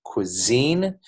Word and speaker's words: cuisine: like a cue and then the S becomes more like a Z like the letter Z so it's pronounced cuisine this word is actually